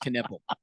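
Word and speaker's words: Knueppel: E L, but literally it's literally pronounced Canipple. I would go with Canel, but they and I felt like they talked about him a lot more than they normally would.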